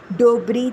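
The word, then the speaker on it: de Broglie: کیا جا سکے۔ 129 اس طبیعیات دان کا نام فرانسیسی میں ڈوبروگلے لکھا جاتا ہے اور تلفظ کے وقت کاف اور لام کو زبان پر نہیں لایا جاتا اور صرف ڈوبری تلفظ کیا جاتا ہے۔ 130 ژروم دو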